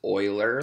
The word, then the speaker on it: Euler: this name is Euler it's oiler like someone who like oils something or like a tin